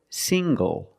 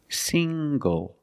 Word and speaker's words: single: Also this word, single. Single. The ng makes the nasal ng sound plus the hard g.